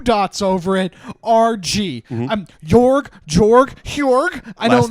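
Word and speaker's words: Jörg: Jorg. I Last don't name? I'm not even going to try and say that, but I'm pretty sure it's Butt Garrett. Like Buck Garrett. Jorg Buck Garrett.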